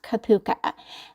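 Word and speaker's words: cupuaçu: I'll be adding this next butter which is pronounced kapuka this is known in the skin care industry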